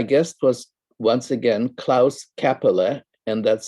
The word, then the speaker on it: Käppeli: My guest was once again Klaus Käppeli, and that's spelled Kaeppeli.